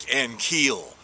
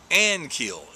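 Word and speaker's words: Ankiel: Rick Ankeel. No, it's Rick Aniel is the pronunciation that you're supposed to be using.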